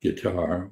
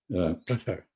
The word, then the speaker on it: Qatar: It's not guitar or Qatar, which is a chest infection. Qatar is the way it's pronounced.